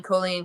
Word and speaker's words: Colleen: So in the early days, we made tank tops that said Allie Colleen, Colleen, Colleen, Colleen, and then on the back it said like Jolene but with a C, and it had like the pronunciation key with it, and they were fun.